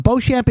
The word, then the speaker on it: Beauchamp: Beauchamp is spelled B-E-A-U. Champ, with like champ. C-H-A-M-P.